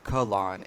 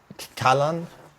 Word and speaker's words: Kahlon: I was saying Kahlon. It's It Callan? Callan, Yeah, Callan, yeah, Callan, yeah. Callan, Callan. Okay. Yeah, I'm not gonna mess that one up again. So, No, it's cool. Callan, on the bright side